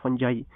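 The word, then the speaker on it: fungi: और what is the study of फंजाई। इसको फंजाई को फुंजी भी कहते हैं, फुंगी भी कहते हैं, लेकिन जो ओरिजिनल प्रोनाउंसिएशन जो है वो उसको हम कहते हैं फंजाई कहते हैं, उसको हम माइकोलॉजी कहते हैं।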